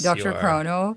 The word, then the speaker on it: DrChrono: You've had quite a journey with, am I pronouncing it right? DrChrono? Yes, DrChrono.